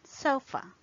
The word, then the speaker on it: sofa: For example, the last sound in sofa, sofa.